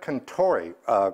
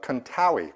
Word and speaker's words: Contori: This comes to me from Fred Contori, Contawi, rhymes with Maui.